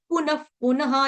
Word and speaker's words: पुनः: प्रकृतिम स्वामवष्टभ्य विसृजामि पुनः पुनः, यहाँ वाले का विसर्ग का आधा फ आएगा उच्चारण, ठीक है? क्योंकि प फ भ भ म है ना, प वर्ग लगा तो विसर्ग का उच्चारण आधा फ हो जाएगा।